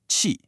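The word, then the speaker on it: 器: And then you have the result, qi, pronounced qi. That's a sharp qi.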